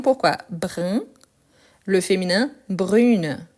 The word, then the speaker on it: brun: donnés on a brun donc attention à la prononciation pourquoi brun le féminin brune brune donc brun brune blanc blonde brun brune donc